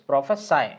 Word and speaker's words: prophesy: तो डू यू प्रोफेसी, that is प्रोफेसाई, है ना। डू यू प्रोफेसाई, है ना, ये सी नहीं पढ़ा जाएगा, डू यू प्रोफेसाई राइज